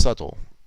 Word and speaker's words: subtle: Should subtle have been pronounced subtle? Subtle. I mean, the B is silence, but I sometimes stop short of that.